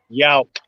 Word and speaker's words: Yauk: Yauk. Yauk. Yauk, like with a K.